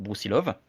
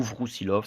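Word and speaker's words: Брусилов: déjà maréchal à l'époque, Bruilov ou Vrousilov, ça dépend comment on le prononce.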